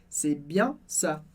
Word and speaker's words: c'est bien ça: Muito importante que na palavrinha c'est a gente não pronuncia o S nem o T do final, porque essa é a regra geral que a gente já viu em outras palavras, por isso, c'est bien ça.